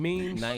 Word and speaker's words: meme: it ain't you mean memes yeah memes or Mimi whatever a meme it's a mem not a m but it's spelled Mimi though it is but it's a meme all right a I